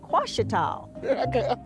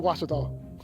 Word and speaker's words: Ouachita: the O is a Q and they say quash at all hey watch it dog watch it call back in Texas everybody pronounces it Wichita but really it's washed off wash it how